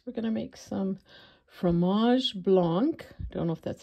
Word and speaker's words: fromage blanc: We're going to make some fromage blanc.